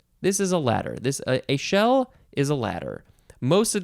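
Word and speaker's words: échelle: it is not literally a shell it is a shell e c h e l l e it is pronounced a shell noun from 1949 it is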